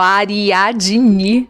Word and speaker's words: Ariadne: Tudo junto, D não é mudo, tá, gente? E nem tem E no final, Ariadne.